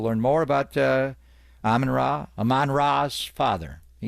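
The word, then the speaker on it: Amon-Ra: David Bowie's wife Aman it's Aman ra not amanra it's a hard name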